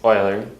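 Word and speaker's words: Euler: on a problem and yes it's pronounced Oiler don't ask me why the problem asked if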